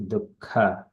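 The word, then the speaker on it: दुःख: Bhaktya, dukka, dukka. It is dukka. It is the second kha. In the first ka is kha. It is dukkha, gramad, vimuchyate.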